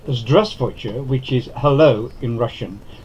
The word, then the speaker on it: Здравствуйте: The letter V in grey in the first syllable is almost silent.